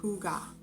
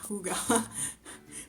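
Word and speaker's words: Hygge: And I got this yarn, which is spelled high G, but it's pronounced Hooga, or yeah, Hooga, from Joann in the color Rust.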